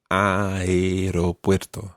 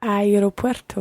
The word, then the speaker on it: aeropuerto: right but I Roberto you pronounce the e and E aeropuerto aeropuerto women boy al aeropuerto